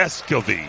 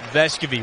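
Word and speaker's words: Vescovi: We got to make sure we say it right, right? That's right. Vescovy. Vescovy. We'll have more on that with Casey Funderburg. But, yeah, pronunciation Vescovy, that's what we're going with here.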